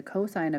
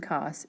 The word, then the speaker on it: cos: of a and the cosine of a written as si N and cos we do not pronounce that as sin and cost when you see this you say sine of a cosine of a are defined as follows